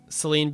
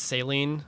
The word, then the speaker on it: Celine: I will never know I'm still not over Celine being pronounced saline God I hate that